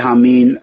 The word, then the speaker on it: Hameen: i did uh but i spell it out phonetically um because it's it's still spelled j-a-m-i-n which if i wrote that down you'd say it was a jammin which i think that's kind of wack sounding jamming so if